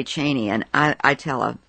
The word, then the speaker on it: Cheney: record straight on something Chris Matthews says it's pronounced Cheney and the family pronounces it that way Liz Cheney how do you pronounce your last name I pronounce it Cheney Cheney and it has been quite some time maybe